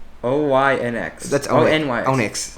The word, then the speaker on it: Onyx: That's ONYX. Onyx. Onyx, not Oinks. Oinks sounds like a noise a pig would make.